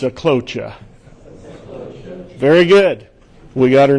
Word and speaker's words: Sjeklocha: glory and it's pronounced no that's not right so cloture three simple syllables the J is silent it's my wife likes